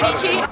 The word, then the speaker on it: Dici: My name's Dici. Rhymes with peachy.